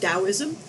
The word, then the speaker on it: Taoism: know it starts with the t but it's pronounced taoism and they regarded sex as a form of